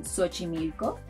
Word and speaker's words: Xochimilco: It may sound like an S, as in Xochimilco, a very nice sound south of Mexico City.